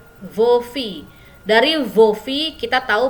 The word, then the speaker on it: filles: Walaupun dia jamak, S-nya tidak dibaca ya. Vos filles.